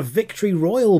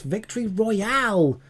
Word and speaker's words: Victory Royale: yeah I've got a I've got a victory Royal before and they're like no it's victory Royale like yeah we could